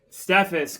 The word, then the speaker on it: Steffes: you how do you say your last name stus stephus stephus is with us today and we've